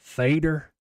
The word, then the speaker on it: theater: If you're not from here, you're going to pronounce it theta, and everybody's going to know you're not from here. But if you are from here and you pronounce it theta, nobody's, going to really give you any like lip or any other second look. But if you pronounce it theater, you're an OG.